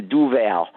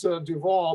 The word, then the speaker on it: Duval: It's just that we served for 9 years, and I've never called you Duval, which phonetically it sounds like that's how you would say your name. Is that a correct assumption? No, it's Duval, but I'm sure back